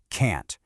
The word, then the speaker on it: can't: Can't. It's sharp. It's clipped. It stops abruptly with that hard T sound at the end.